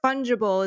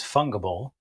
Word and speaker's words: fungible: exchanged which means it's fungible and this word fungible is important to know for nfts okay yeah